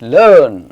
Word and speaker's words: learn: LEARN, इट्स नॉट लर्न, इट्स लर्न.